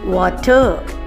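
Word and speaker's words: water: அதே மாதிரி தண்ணி என்னன்னு இங்கிலீஷில் சொல்லுவாங்க? வாட்டர் அப்படின்னு சொல்லுவாங்க. அங்கே ஆர் வரக்கூடாதுங்க. ஆர் எப்போதுமே சைலண்ட்டாக இருக்கணும். அப்போ பார்த்தீங்கன்னாக்க வாட்டர் அப்படி தாங்க சொல்லணும்.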